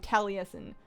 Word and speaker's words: Taliesin: on camera but I'm definitely being incorrectly pronouncing Taliesin I didn't give it enough syllables before so I'm deeply sorry